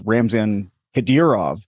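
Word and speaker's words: Ramzan Kadyrov: audience uh who may need a translation it's ramzan hedirov thank you but it's you sure we're closed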